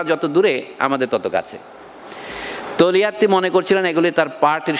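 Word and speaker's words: Togliatti: সহকর্মী যার নাম হচ্ছে তোলিয়াত্তি ইংরেজিতে পড়ার সময় আপনারা তোগলিয়াতি বলেন ইটালিতে ওই জি উচ্চারণ হয় না উচ্চারণটা হয় তোলিয়াত্তি টি ও জি এল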